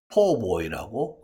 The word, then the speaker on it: Po' boy: 그 PO 4처럼 많이 발음합니다 그래서 지금 여기도 PO boy고 흔히 발음이 되는 것이죠 참고로 꼭가 아니다 PO 그것을